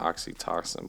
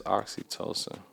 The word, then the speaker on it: oxytocin: the right way yeah I think it is oxytocin you not oxytoxin but because that's oxytocin it's oxytocin okay so let's see if